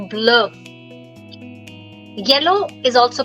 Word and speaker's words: bleu: Now the pronunciation will be same for all. But see the spelling keeps changing. Bleu, bleu, bleu, and bleu.